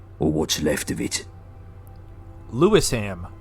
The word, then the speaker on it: Lewisham: what's left of it lewisham that's how I would say but he said leam all right wait a